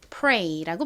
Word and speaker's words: pray: 이중 모음 EY도 A 소리가 나고 AY도 A 소리가 나죠. 그래서 동일하게 pray라고 발음이 됩니다.